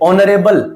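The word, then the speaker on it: honourable: उसी प्रकार से ऑनरेबल तो ओ यहां पे प्रोमिनेंट है। ओ यहां पे प्रभावशाली है। एच यहां साइलेंट है।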